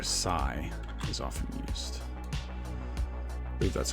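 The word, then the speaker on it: psi: often denote for whatever reason the Greek letter Sai is often used believe that's a capital Sai some people will say Pai but I find that difficult to pronounce so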